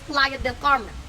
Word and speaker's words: Playa del Carmen: were in the YouTube streets Defending Your Spanish pronunciation yes it's Playa Del Carmen okay I know what it is period so